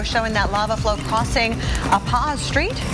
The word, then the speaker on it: Pa'a Street: And check out number 2, video showing that lava flow crossing Pa'a Street. Is that how you say it? Yeah, Pa'a Street in Pahoa on Saturday.